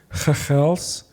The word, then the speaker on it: Mchalsi: like the word X, or the letter X is pronounced ch. So you notice how I say Mchalsie, that's with an X, right?